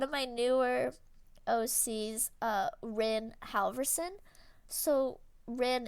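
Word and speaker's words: Ryn: uh my one of my newer OC's uh Rin Halverson so Rin it's spelled like r-y-n um they are this is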